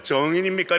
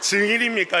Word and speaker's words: 증인: 경상도가이 증인 발음이 잘 안 돼요. 그 정인입니까? 이렇게 하시면 안 되고 증인입니까? 이렇게 물어보셔야 되는 거예요.